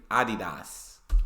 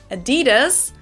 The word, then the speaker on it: Adidas: were referring to because they usually pronounce it Adidas and in Germany we say Adidas Adidas Adidas super different it's the second largest